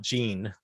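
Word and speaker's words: Jeanne: wrong in my mind ah j-e-a-n-n-e but she pronounced it Gene right lived from 1939 to 2000 and she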